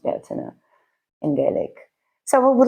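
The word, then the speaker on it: Bealtaine: night um fire festival um commonly known as Belain but it's pronounced Bina in Gelik so we would like to get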